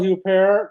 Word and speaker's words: Huppert: su's new movie A traveler's need is Isabelle huper I think that's that's how you pronounce her name famous French actress she plays